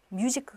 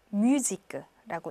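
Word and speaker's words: musique: 단어가 있고요 그 다음에 뮤지크 가 아니고 뮤지 끄라고 읽으셔야 되요 영어는 뮤직 그렇겠지만 요 불후 에서는 6 앙상 우유 발음 이기 때문에 요 뮤직 그 그렇게 읽어야 되는 거 기억하시고 요 그 옆에는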